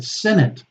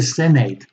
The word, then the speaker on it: senate: bharata of privet Prahlada or senate sanella the senate not the senate that's incorrect the senate separate to separate to